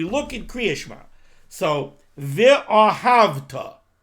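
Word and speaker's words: ואהבת: Now, again, if we look in Kriya Shema, so ve'ahavta, the shva under the vav, that is a shva na. It's a shva in the beginning of the word. Ve, you pronounce it.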